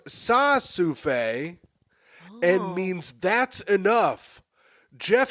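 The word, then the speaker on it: ça suffit: Liza says, Ka-souffle is pronounced sa-souffle and means that's enough.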